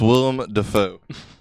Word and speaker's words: Willem Dafoe: It's It's pronounced Willem Dafoe. yeah. Willem Mrs. William Defoe. Willem, sorry.